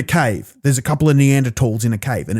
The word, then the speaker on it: Neanderthal: There's a couple of Neanderthals in a cave, and it's actually pronounced Neanderthal, not Neanderthal.